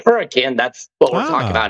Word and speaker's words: Hurricane: So if you hear people say hurricane, that's what we're talking about, is Hurricane, Utah. We pronounce it hurricane.